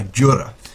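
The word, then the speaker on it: Djura: Now, as you heard there at the start, Old Yharnam is defended by Jura, D-G-U-R-A, but obviously you don't pronounce a D in like the Django Unchained. Doesn't sound right.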